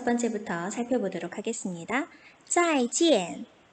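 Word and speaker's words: 再见: 再见再见 잘가 라는 의미로 쓰이는데요. 우선 읽을 때 IAN 주의해야겠죠? 이거 EN이라고 읽습니다.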